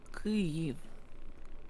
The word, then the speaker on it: Kyiv: It's in Ukrainian it's supposed to be Kyiv. Kyiv. Kyiv. Kyiv. Kyiv.